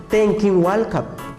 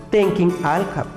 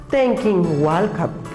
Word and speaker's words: tenkin walkap: La abuelita te va a decir tenkin walkap. La abuelita no te va a decir tenkin alkap. La abuelita te va a pronunciar, el abuelito, tenkin walkap. Yo corro, tenkin walkap.